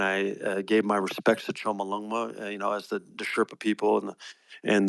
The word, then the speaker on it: Chomolungma: Chomolungma, as it's called, that's how they pronounce it, Chomolungma.